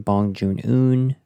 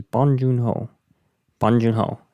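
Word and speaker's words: 봉준호: would say, it was Bong Joon Ho, and they would say it really quick. And how I tried to remember it almost sounds like Bongiorno, but you say it like Bong Joon Ho.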